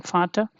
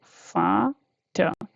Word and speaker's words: Vater: Vater is father, so this is fa and ta, yeah, e a r last, so you have to not, don't stress it too much, just read it like fa ta. Okay, r is not that much, stressed.